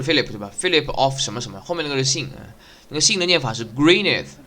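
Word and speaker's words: Gwynedd: A message from Alan 啊，Alan 是那个什么？这里其实很复杂，光这一段就从那个 Philip 的名字到时候会出来。Philip 后面那个就他的这个姓名字不是 Philip 对吧？Philip of 什么什么，后面那个是姓那个姓的念法是 Greeneth 就弟弟，是以弟弟结尾的。但那个弟弟发音其实是应该发那个 father 跟 mother 那个 th 的音的，是念 z 的，所以是 Greeneth。这很明显不是英文单词。但呢，也不像什么法文了、意大利文了，因为这里它是涉及天主教，对吧？天主教呢，肯定要涉及到罗马也提到罗马帝国了，但并不是意大利语。那什么语呢？其实是威尔士语。所以这个 Philip 他是威尔士人，然后这个头 Jack 这红头发呢，很明显是凯尔特人。凯尔特人是住在苏格兰或者爱尔兰那边。那至于剩下这几个，比如说艾丽呢，他既然是贵族名门望族那肯定就是英格兰人。所以这里其实也涉及内战。UK 喜欢搞内斗，应该是有名的。Cub, I need to talk to you.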